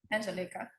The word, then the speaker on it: Angelica: And are we pronouncing that correctly? Is it Angelica or Angelica? Angelica.